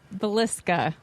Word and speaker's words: Villisca: talk about something called the I'm probably gonna mispronounce it so I'm gonna kick it over to Alicia the same Villisca Villisca the axe burger where a very tragic